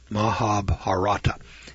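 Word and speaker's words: Mahabharata: now I can't pronounce this word but I'll spell it for You Maha mahab harata mahab harata m a ha a b h a r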